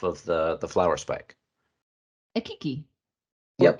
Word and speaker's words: keiki: A kiki or Yep, kaiki. exactly. Okay, for those of you who are very good at pronunciation, it is spelled Keike, right?